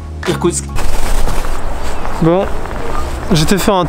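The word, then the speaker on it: Иркутск: Ce qui ressemble à un N a l'envers, c'est un I. Le P, on l'a vu la dernière fois, c'est comme un R. Ensuite le K, c'est comme un K. Y se prononce OU. T comme un T. C comme un S. K comme un K. Ce qui nous donne Irkoutsk.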